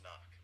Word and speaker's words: NOC: NOC, pronounced knock.